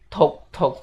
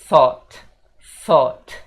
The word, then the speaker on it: thought: Dan untuk pengucapannya sendiri, teman-teman bukan bilang talk gitu ya guys. Tapi pengucapannya itu pakai sa yang digigit lidah itu sa, dan pengucapannya thought gitu guys.